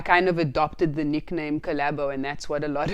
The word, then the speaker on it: Collabo: So the name of the song is called Collabo. Collabo. And that's how it's spelled, COLLABO.